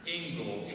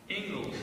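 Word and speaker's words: Inglis: His name was Alexander Ingalls, but that's spelled I-N-G-L-I-S, and the honor lecture is called the Ingalls Lecture.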